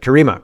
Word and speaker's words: Karima: Kareema, right? It's It's not Karma. It's Kareema, right?